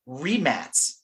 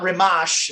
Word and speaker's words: Rimac: like changed names like like 10 times it's pronounced Matty and the last name is remat remat I I mean it's not remash and all these other remac and all these